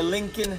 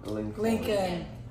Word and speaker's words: Lincoln: Lincoln. How does that make sense, though? Nothing in America makes sense. No, so it's pronounced like Lincoln Park?